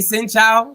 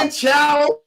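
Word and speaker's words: xin chào: When you say sin chow, that shit wrong. Yeah. Wrong. I said it wrong. You said it wrong. Say sin chow. Sin chow.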